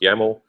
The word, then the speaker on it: YAML: yo info yaml file yml is pronounced yaml uh is basically your